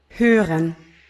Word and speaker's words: hören: hören, hören, Tochter, Tochter, Vater, Vater, krank, krank, treffen, treffen, Uhr, Uhr, Schwester, Schwester, Büro, Büro, Trompete, Trompete, Computer.